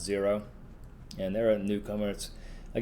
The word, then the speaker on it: Xero: zero so it's uh spelled x e r o but it's pronounced zero and there are newcomers